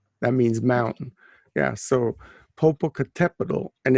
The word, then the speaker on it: Popocatépetl: Oh, Popo, because it's Popocatépetl. You have to put the accent on the tepetl. That means mountain. Yeah, so Popocatépetl, and it's next to Iztaccíhuatl.